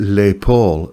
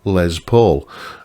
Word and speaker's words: Les Paul: And um he kept pronouncing it Lay Paul, as if it was like, you know, a French pronunciation.